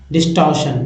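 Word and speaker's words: distortion: डिस्टॉर्शन डिस्टॉर्शन ठीक है कुछ लोग डिस्टॉर्शन कहेंगे लेकिन र का उच्चारण नहीं किया जाता है डिस्टॉर्शन नेक्स्ट वड हैतो धमाका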